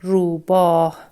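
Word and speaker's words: روباه: We pronounce it he, ruba.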